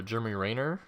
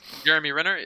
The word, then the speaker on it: Jeremy Renner: that's the first time i've ever seen uh jeremy rayner was how you pronounce that's the first jeremy renner that's the first time you've ever seen him